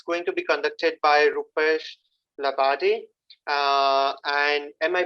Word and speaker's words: Rupesh Labade: This is a workshop, and it's going to be conducted by Rupesh Labade. And am I pronouncing it right, Rupesh?